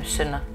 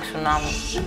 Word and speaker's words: Sunna: The locals had a pretty hard time pronouncing my name, Sunna. It always came out sounding like Tsunami.